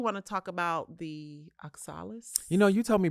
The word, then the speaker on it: oxalis: So you want to talk about the oxalis? You know, you told me before the show that was one of your faves, so I'm going to let you take it. So the thing about the oxalis, first of all, am I even saying it